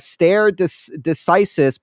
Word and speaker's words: stare decisis: This says stare decisis, pronounce star e decisis.